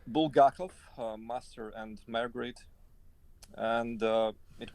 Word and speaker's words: Bulgakov: Bulgakov.